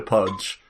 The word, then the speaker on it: Pudge: Begins with P and rhymes with fudge. Yeah, the Butcher Pudge.